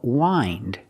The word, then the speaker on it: wind: And it's the past of wind. In the present, wind. In the past, wound. We hear the pronunciation with the long I for the present verb.